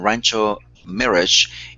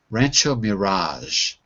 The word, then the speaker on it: Rancho Mirage: Mirage but it's Mirage Rancho Mirage Mirage that's a tricky one yeah because we use like a kind of French pronunciation for that particular word a mirage is something